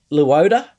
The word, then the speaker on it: Luoda: Bands is and correct me if I'm saying the name wrong. Is it Luoda? Perfect. Did I say that right?